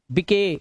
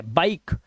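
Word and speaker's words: bike: अब इसे गिवे नहीं पढ़ने, गिवे, गिव, मके नहीं, मेक, बिके गलत है, बाइक। इसे राइस या रिसे नहीं पढ़ना है, क्योंकि लास्ट का ई साइलेंट है।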